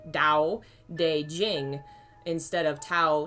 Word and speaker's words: Dao: lot easier to pronounce it's supposed to be pronounced like a d dao de jing instead of tao tae ching or king was one of the translations uh so dao the first word dao